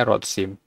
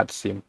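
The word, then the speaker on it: רצים: Tapi kalau dia ditambah im, dia jadinya rotsim. Sedangkan ini dibacanya ratsim.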